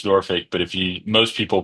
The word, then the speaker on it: Norfolk: who lives here in Nori knows that it's Nori but if most people pronounce it Norfolk and who don't live in the city so